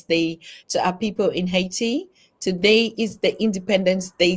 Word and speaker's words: Haiti: In Haiti, she taught us that Haiti is the funny word, like Brother Ron Spears was saying, Haiti. So Haiti is the right pronunciation.